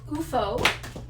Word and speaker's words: OOFOS: asked all the time how do you pronounce it it's ufo and the this is